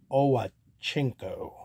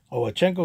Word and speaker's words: Owchinko: of a kind from bob owenchenko i believe that's how you properly pronounce his name oh chenko was a pitcher for